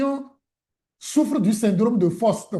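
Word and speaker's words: Faust: C'est-à-dire ceux qui ont souffrent du syndrome de Foste. Foste s'écrit F a U S t.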